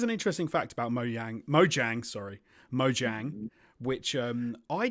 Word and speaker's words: Mojang: um I'm being told in the chat it's Mojang and I also mispronounced Marcus person but you've written in the